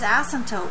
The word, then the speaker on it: asymptotes: okay second of all the word is asymptotes we don't unnecessarily stress the first syllable of the word okay last but not